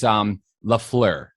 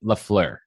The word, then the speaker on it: Lafleur: would say, but it's Lafleur is how I say it, Lafleur.